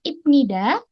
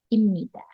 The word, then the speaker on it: 입니다: muncul di kosakata bahasa jadi tulisannya ibnida tapi dibacanya tetap imnida jangan sampai terkecoh ya Nah imnida sendiri